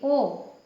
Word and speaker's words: ओ: तो देखिए, ओ, इसको बोलते समय थोड़ा सा मुंह खुलता है, ओ, और ये औ, ठीक है। तो इसमें ज़्यादा मुंह खुलता है और इसका उच्चारण औ निकलता है, ठीक है।